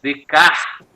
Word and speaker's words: Descartes: O Celso, um filósofo chamado René Descartes, mas é pronunciado Descartes, o nome é escrito Descartes, mas o homem não é descartável, viveu um pouco antes do Comte, do Augusto Comte.